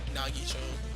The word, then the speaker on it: Nagito: Nito, because Nagito, I'm sorry. I've been pronouncing his name wrong all this time.